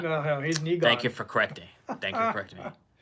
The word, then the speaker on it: Egon: And then you get to see also the spirit of EGOT doing the thing with him as well. I'm probably saying his name wrong. Did I say his name wrong? It's Egon.